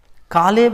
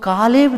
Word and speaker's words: कालेब: पढ़ेंगे तो वहां भी कालेब लिखा है। तो कालेब जो है, अगर मैं कालीब बोलता हूं या कालेब बोलता हूं, दोनों एक ही है। थोड़ा सा मूसा के प्रोनाउंसिएशन में कालीब, यहोशू के प्रोनाउंसिएशन में, सैमुएल के प्रोनाउंसिएशन में कालेब।